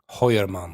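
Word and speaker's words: Heuermann: Hoyerman.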